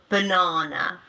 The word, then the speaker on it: banana: So for example um or in a word banana no banana the ah turns into a schwa sound banana and this can